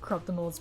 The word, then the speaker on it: Corruptibles: I said the name's pronounced Corruptibles, but butcher it as much as you want.